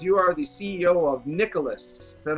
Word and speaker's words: Nicalis: are tyrone rodriguez you are the ceo of nicholas is that how i say it that's how